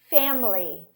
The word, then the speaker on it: family: So I'm showing, I'm stressing the syllable and the other ones are reduced. One more example. Memory, memory, memory. Family, family.